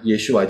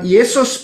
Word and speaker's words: Yeshua: nama ini mengenai nama yesua jadi Nama yesua Tetap bukan Yesus bukan Yesu Bukan Yesus bukan itu pengucapan yang salah bahkan ya pengucapan yang